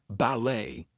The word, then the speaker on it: ballet: So, things like ballet, gourmet, we are not going to pronounce the T there.